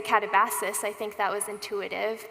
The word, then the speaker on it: katabasis: But then I watched this video where it said in this very artificial sounding voice, katabasis. And that's actually how we say it at home. Bennett always pronounces it katavasis, which is hard to do in casual conversation.